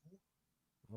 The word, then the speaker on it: Hug: Yeah, yeah, but it's a Swiss name, so it's Hoog.